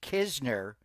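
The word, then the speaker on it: Knizner: Andrew, the N is silent. It is Kizner.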